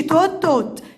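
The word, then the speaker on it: taught: توت. الاي واليو بنطقها او والجي اتش سايلنت، يبقى توت.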